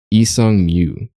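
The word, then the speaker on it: 이상무: Pronounced Isang Mu.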